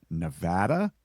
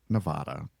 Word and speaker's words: Nevada: And if you come to my state, if you come to Las Vegas, you're coming to Nevada, not Nevada.